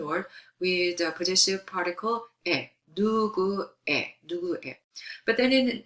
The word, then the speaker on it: 의: But then this 에, it's pronounced 에, usually drop.